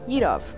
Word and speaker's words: Yadovv: today we are featuring edov and yes that is how you say his name I have run into